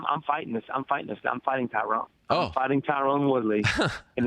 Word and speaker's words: Tyron: His name's Tyron.